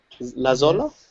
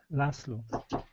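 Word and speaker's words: László: Lazola? Yes, Laszlo. Laszlo. Laszlo. I think the English pronunciation is Leslie.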